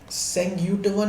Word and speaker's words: Senguttuvan: हैं, वो कौन हुआ करते थे, वो आपके सेंग्यूटवन हुआ करते थे।